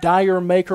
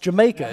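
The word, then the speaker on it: D'yer Mak'er: I've said anything from Dyer Maker or whatever. It's actually pronounced Jamaica. It's the Jamaican spelling for Jamaica.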